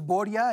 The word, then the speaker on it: Borya: Es Boria, el diminutivo del nombre ruso o eslavo Borislav, que algunos dicen Borja, Boria, era parte de mi intención ese equívoco.